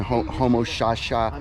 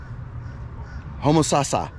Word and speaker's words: Homosassa: So again, I mean no disrespect trying to pronounce like Homo sapien, Homo shasha, Homo susha, yeah. That last town that I went to, I know in an earlier video I said the name right, but Homosassa.